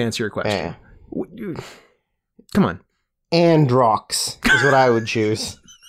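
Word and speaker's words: Androux: your question come on androcks is what I would choose I like it a n d r o u x and rocks the U is silent of course yeah the U is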